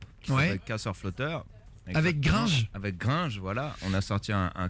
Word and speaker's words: Gringe: tapez Orelsan gringe gringe on dit gringe ou gringe par c'est gringe la française tuas envie de